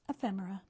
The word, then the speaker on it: ephemera: We just started getting those maybe a couple years back because I remember thinking, I don't even know how to pronounce this, but now everybody does. So, it's ephemera.